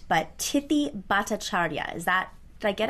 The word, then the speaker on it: Tithi Bhattacharya: I do need her to correct the pronunciation of her name so I get it right, but Tithi Bhattacharya, is that, did I get it?